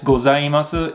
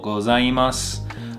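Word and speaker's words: ございます: Now the u at the end of this gozaimasu is sometimes said kind of silently, so you might say it more like gozaimasu instead of gozaimasu. The u, sometimes you'll hear it very lightly or just not at all.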